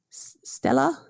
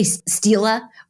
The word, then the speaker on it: stela: which is Egyptian now this pronunciation as well is it s Steely yes Stella basically just say Stila or and that'll work for the the singular and the plural Stella Steely okay really either way is fine exactly how we pronounce